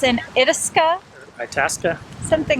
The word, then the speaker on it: Itasca: Just asked a park employee, and the proper pronunciation is Itasca.